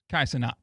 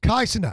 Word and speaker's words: Kai Cenat: Kai Cenat. Simple. Kai Cenat.